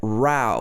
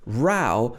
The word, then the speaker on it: row: pronounced bass okay next one is row versus rao both of these are spelt r-o-w but different pronunciation so let's look at rao first rao means an argument arguing with somebody so this